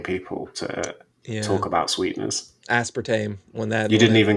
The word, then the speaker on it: aspartame: How do you say it? Aspartame. But Americans say aspartame.